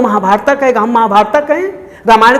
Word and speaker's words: राम: तो हम ये कहें कि वो राम है, रामा नहीं है, वो महाभारत है, महाभारता नहीं है।